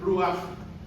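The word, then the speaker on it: רוח: perdónemme mi letra clara, es ruaj. Se escribe ruaj r u a c h.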